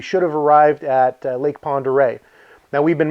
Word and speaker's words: Pend Oreille: back that I realized it was called Lake Pend Oreille so forgive the mispronunciations and some of the clips later we